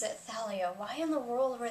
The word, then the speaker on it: Thalia: the audiobooks, but from what I know, everybody pronounces it Thalia. Why in the world were they pronouncing it like Talia or Talia or Talia?